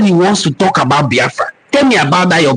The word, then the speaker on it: Biafra: European contact was when that word Biafra is documented to have been used by the Portuguese. It is an Igbo word, but the way the Portuguese people mentioned it, they didn't know how to pronounce it, Biafule, meaning not properly cooked, Biafule, and then they call it Biafra. That is the word Biafra. The bite of Biafra also